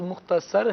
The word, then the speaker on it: مختصر: بہت مختصر یا مختصر، تو درست لفظ مختصر ہے، مختصر ہے، مختصر نہیں۔ تو پڑھنے والے نے جو ہے وہ مختصر پڑھا ہے، تو یہ بڑا مختصر ہے، بڑا مختصر بیان تھا، مختصر سلسلہ تھا، یہ سب غلط ہیں۔ درست جو ہے وہ مختصر ہے۔ صاد پر ہم نے زبر پڑھنا ہے، صاد کے نیچے زیر نہیں پڑھنا۔ جی راشد بھائی۔